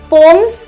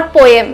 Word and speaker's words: poem: Trees are पोम्स the earth rights upon the sky. This word पोम is pronounced as पोम, पोम्स, नॉट पोएम, please mind.